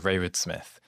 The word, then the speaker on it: Rayward-Smith: have and I'm gonna ask him to pronounce his own name exent fantastic to meet you Charlie yeah my name is Raywood Smith and is a really interesting mathematician who